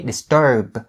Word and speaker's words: disturb: The B sound right there is stopped because you put everything that you're using right here, your mouth, your tongue, your teeth, into the position as if you're about to say it.